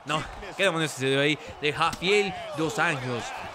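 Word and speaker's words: dos Anjos: qu ahí de jafi dos años dos años así se pronuncia es portugués falas portugués Carlos no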